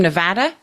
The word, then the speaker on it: Nevada: He's from He's from Nevada originally, but his father is from Canada, Burlington kind of area.